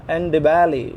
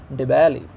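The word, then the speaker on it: Ndebele: The way it is pronounced is given here. See, the letter E is kept in brackets, in parentheses. Do you know why? Because the pronunciation may be ignored. You may pronounce or you may ignore it. So finally it is pronounced as, it is sounded as Dibali.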